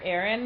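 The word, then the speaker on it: Auren: about our main character Aaron is how I say her name U or a Aon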